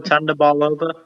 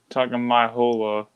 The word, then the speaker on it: Tagovailoa: We just figured out how it's pronounced to his last name, and now we have to Tua Tagovailoa. Tagovailoa.